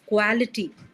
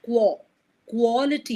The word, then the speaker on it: quality: in some other places you are pronouncing it as quality. Okay. So the sound is a clear O sound. Quality quality.